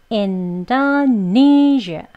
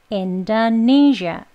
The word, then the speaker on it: Indonesia: 예, 이 끝발음에서요. 이 마지막 음절에 zh 하고 이렇게 진동을 많이 주진 않아요. 왜냐면 강세가 없고요. 떨어지는 음이에요. 그래서 zh 약간 샤보다는 지읒 소리가 들어간 zh 라고 발음을 해 주셔야 합니다.